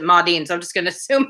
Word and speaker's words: Maudlin: under the name uh modine or maudlin depending on how you pronounce it as m-a-u-d-l-i-n connor pronounce it ma dean so i'm just gonna